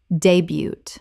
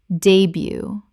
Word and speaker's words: debut: debut Common mispronunciation. debut Correct pronunciation. debut Two syllables and the t at the end is completely silent.